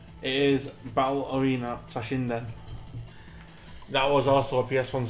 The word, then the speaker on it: Toshinden: Am I pronouncing that right? It is Battle Arena Toshinden.